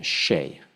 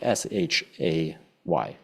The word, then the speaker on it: Shay: Shay. It's kind of like S-H-A-Y, Shay.